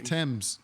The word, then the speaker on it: Thames: Thames. Well, why'd they put the H in there?